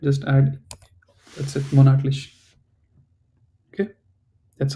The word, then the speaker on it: Monatlich: Monthlich. Monatlich. It's almost correct. Just add, that's it, monatlich.